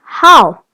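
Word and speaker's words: 好: Another character we learned today, still in ni hao, is pronounced hao, which means good.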